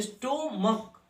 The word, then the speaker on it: stomach: तो अब आपको देखिए यहाँ पे स्टोमक और लास्ट में इस लगाया हूं मैंने, ठीक, क्योंकि इसका उच्चारण क होता है।